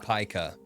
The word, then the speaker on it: Pica: Funny enough, it's actually pronounced Pica.